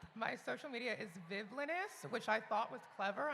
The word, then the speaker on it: Vivllainous: So, yeah, it's villainous with an extra V. It's Vivlinous. People always ask me how to pronounce it. I'm like, it's the word villainous but with a V.